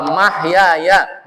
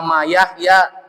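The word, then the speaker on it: محياي: Wa mahyaya, bukan wa mayahya. Kalau wa mayahya nanti mamanya Yahya.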